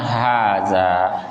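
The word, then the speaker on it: هذا: itu gak berubah ya cara bacanya Haza ya ha-nya panjang Haza ya zanya juga panjang jadi jangan dibaca pendek ya Haza salah ya Haza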